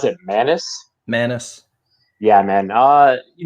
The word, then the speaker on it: Maness: i believe versus uh nathan how do you pronounce it manus manus yeah man uh you know what man